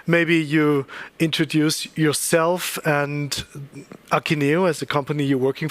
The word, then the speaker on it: Akeneo: I have to switch the English pronunciation of Akeneo. It's Akeneo. And if you say Akeneo, I will do that too, okay?